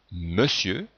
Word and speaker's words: Monsieur: la lettre E dans Monsieur on entend bien le son e mais on écrit o n dans le verbe faire